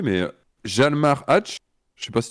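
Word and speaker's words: Hjalmar: mal le prononcer, mais Jalmar Hatch. Je sais pas si tu l'aurais dit comme ça, toi. Moi, j'aurais prononcé le J comme un I. Yalmar. Yalmar, peut-être que c'est mieux, effectivement. Yalmar Hatch, j'ai aucune info sur sa vie personnelle.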